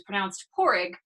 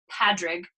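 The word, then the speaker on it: Pádraig: name, which is P-A-D-R-A-I-G, which is pronounced Porrig, but looks like, if you were just going to read it phonetically, Padrig with a D.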